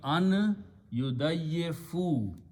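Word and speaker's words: أن يضيفوهما: Instead of we put an alif which is not pronounced, so it becomes an yudayyifu. When you pronounce that noon and ya come together, you pronounce the noon gunna here, so you'll be an yudayyifu.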